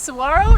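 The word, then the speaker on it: Saguaro: we enjoyed so much it's Saro National Park I had to learn how to save that cuz I feel like I've been saying it wrong for my entire life yeah I think everybody who has only seen it in print and not heard it said would say this wrong searo National Park we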